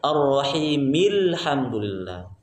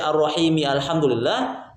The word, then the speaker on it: الرحيم الحمد لله: Hamzah wasol itu fungsinya kalau di awal terbaca alhamdulillah kalau di awal. Tapi kalau di tengah tidak lagi dibaca. Hamzah wasolnya hilang, ya, maka dibacanya ar-rahimil hamdulillah. Kalau membaca ar-rahimi alhamdulillah berarti itu salah, ya, tidak boleh, ya, tidak boleh baca ar-rahimi alhamdulillah.